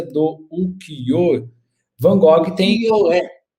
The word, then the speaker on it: ukiyo-e: Ukiyo-e, né? Ukiyo-e. Salvo engano, a pronúncia é assim.